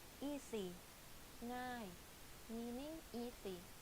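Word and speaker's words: ง่าย: ง ่ า ย easy ง ่ า ย meaning easy, like thinking of singing, the ng sound, you use that sound in front of the word ง ่ า ย Avez-vous réservé une chambre?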